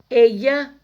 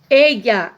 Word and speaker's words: ella: Ella, existem duas pronúncias e as duas são aceitas pela gramática normativa. Ella ou ella. Depende do país. Geralmente os países da América Central falam ella. No México se utiliza muito ella ou ella.